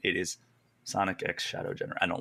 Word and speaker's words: Sonic X Shadow: that it is X the x is pronounced Sonic X Shadow it's not cross it's not silent it is Sonic X Shadow gener I don't like